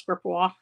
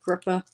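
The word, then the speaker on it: Gripoix: p o iix and it's um pronounce GPA kind of like gria okay F over clasp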